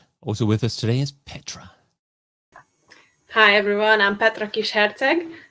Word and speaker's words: Petra: What's the real great way to pronounce Petra? I didn't get it quite right, did I? It's Petra, so it kind of ends with Petra. an O instead of an A, but I think within